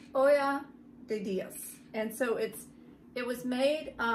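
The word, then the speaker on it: Ojo de Dios: It's pronounced Olla de Dios.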